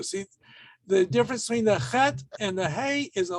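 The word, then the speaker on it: חֵית: If you say chet, I'm not going to give you a hard time. If you say het, that's okay too.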